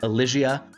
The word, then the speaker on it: Elysia: before we get into it yes it is pronounced Alia I looked it up Alia something else we